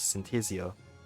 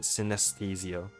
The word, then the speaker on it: synesthesia: of taste and utilize Synthesia that's not how to pronounce the word synesthesia by the way while